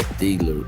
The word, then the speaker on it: Taylor: A pronúncia é Taylor, eu estava vendo.